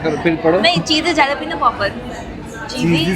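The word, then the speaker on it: jalapeño: नहीं, चीज़ जैलापिनो पॉपर, चीज़ी जालापिनो पोपर्स। जैलापिनो ये सही है प्रोनाउंसिएशन।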